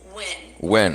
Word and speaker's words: Nguyen: So I don't think there's a right way to say the anglicized version of Nguyen. However, I do think that there are some preferred anglicized versions of Nguyen, which are commonly Nguyen and or Wen.